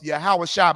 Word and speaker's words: Yahawashi: of Jesus Christ of yahawashi mashiach that's how you say his name in the Hebrew Christ spoke Hebrew the Bible was written WR in Hebrew if you saying Yeshua or Jesus you're saying his name in Greek you